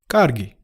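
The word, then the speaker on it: კარგი: okay or that's fine Gargi Gargi Gargi this word basically means good or sometimes nice it starts with a K like sound that we learned when we said excuse me do you remember what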